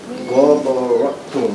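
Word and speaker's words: غَبَرَةٌ: So it's gonna be ghabarat, ghabaratun. No prolongation. Ghabaratun. Ghabaratun.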